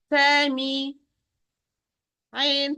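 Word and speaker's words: سمع: Here, sin, fatha sa, mim, kasra mi, sami, ain, fatha a, sami'a, sami'a.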